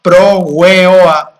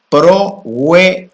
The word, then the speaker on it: Proa: El mantran es prooa. Proa y lo pronunciamos alargando las vocales pro o y eso abre la puerta hacia la parte interna.